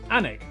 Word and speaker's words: Alnwick: Alnwick, which is near Newcastle.